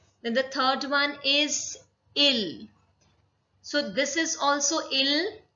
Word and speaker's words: ils: Then the third one is il. So this is also il and il is also ill. So this s will not be pronounced.